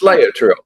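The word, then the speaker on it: Laetrile: Vitamin B17, which is also known as amig- amygdalin amygdalin or lat- latrel lat- latrel latrel latrel latrel latrel It's latrel.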